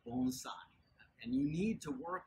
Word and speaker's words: bonsai: It's funny how often people mispronounce these terms. You always hear people say, oh, you know, I have a little bonsai tree. Okay? No, it's bonsai.